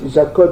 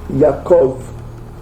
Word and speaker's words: Yaakov: Donc ici la prononciation en hébreu yiddish, le B se prononce V. Eux ils disent pas Abraham, ils disent Avram. Ok. Jacob, ils disent pas Jacob, ils disent Yaakov.